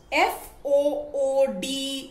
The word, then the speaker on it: food: shot ooh so remember f o o d is pronounced as food the long u sound but f o o